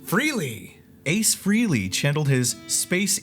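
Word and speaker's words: Frehley: doing great keep reading oh how do you pronounce Ace Ace's last name freely Ace Freely chandel his space Ace Persona and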